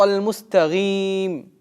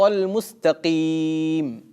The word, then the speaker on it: المستقيم: то некоторые люди вместо буквы «каф» в слове «мустаким» произносят твердую «гайн». اهدنا الصراط المستقيم. Это ошибка. А правильно читать? اهدنا الصراط المستقيم.